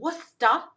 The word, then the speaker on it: Worcester: So this is a royal worusta. Yes, that's how you say it. Worusta. You don't pronounce that R.